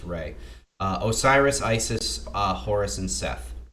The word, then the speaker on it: Ra: It's called Ra often, but most of the time I believe it's supposed to be pronounced Re.